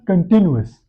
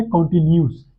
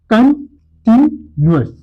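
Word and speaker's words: continuous: कंटिन्यूअस tense हमने क्या pronounce किया, कंटिन्यूअस। अक्सर इसको गलत प्रोनाउंस किया जाता है कॉन्टिन्यूस। इट्स नॉट कॉन्टिन्यूस, इट्स कंटिन्यूअस। तो इसकी करेक्ट प्रोनाउंसिएशन क्या है, कंटिन्यूअस।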